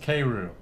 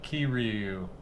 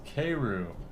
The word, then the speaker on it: Keiryu: my cued k all right hold on it's pronounced k roo not ki ryu even though it's k e i says k and it's k-roo i'm here to talk about what happened to